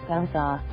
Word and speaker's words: Gose: A Gose, pronounced gow-za, is a pure German wheat beer, typically brewed with salt and coriander seeds.